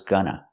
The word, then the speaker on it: gonna: going to do that making the to sound like T going to going to do that or you can make the reduction and say I was gonna I was going to